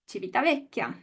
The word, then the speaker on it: Civitavecchia: Gail, how do you pronounce Civitavecchia? Civitavecchia.